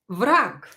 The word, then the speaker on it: враг: Or враг. Враг. Враг is an enemy. Враг, enemy. And here G will be pronounced as K because it is located at the end of the word.